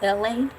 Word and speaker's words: ELAY: My name is LA. Pronounced like LA, like the city.